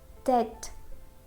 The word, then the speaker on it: debt: For example, subtle, subtle, debt, doubt.